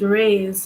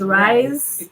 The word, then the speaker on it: Reye: gets worse so I I'd pronounce it raise so it's rise it's either way can be ra okay and um